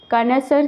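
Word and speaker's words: connoisseur: कर्नसर की ओके कर्नसर इसे प्रोनाउंस किया जाता है।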